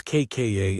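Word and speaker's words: 까: Tense kka is tight and abrupt with no air.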